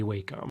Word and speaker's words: Wacom: Before you ever put your stylus to your Wacom, I don't care how you pronounce it, I say Wacom.